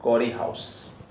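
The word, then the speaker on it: Corey–House: एक हाउस form करना है, नाम है उसका कॉरी हाउस। स्पेलिंग इसका थोड़ा मैंने गलत लिखा है, COREHY ऐसा है, बोलते हैं REHY है, कॉरी हाउस, कॉरी हाउस synthesis, used in अ कॉरी हाउस synthesis.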